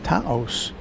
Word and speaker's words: Taos: Taos? Taos. It's only one syllable, Walt.